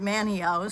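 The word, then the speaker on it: Manteo: i was coming into a town called manio spelled man mateo but i guess the tea is silent and i was coming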